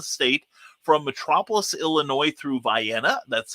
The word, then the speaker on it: Vienna: length of the state from metropolis illinois through vienna that's how it's pronounced through harrisburg and carmi uh effingham champaign